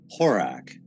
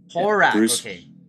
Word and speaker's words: Horak: and how do you say your last name horak horak horak yeah okay uh i can tell you about